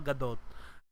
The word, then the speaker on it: Gadot: There's a T sound. Gal Gadot, Gadot.